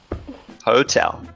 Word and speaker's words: hotel: Hotel. Hotel? Yes? I think you want to say hotel, right? So that word is hotel. The stress is on the second syllable.